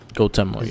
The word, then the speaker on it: Dotemu: How do you pronounce that? Is it Dotemu? Dotemu, yeah.